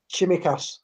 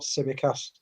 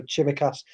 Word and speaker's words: Tsimikas: but um everything about chimichass i i believe it's pronounced not semicast i've seen a couple of um a couple of greek love supporters correcting theo yesterday so chimacast uh seems quite promising